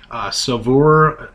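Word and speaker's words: Saveur: Savour magazine, actually, and that's a really, really good magazine, and that's another tip if you're really into cooking.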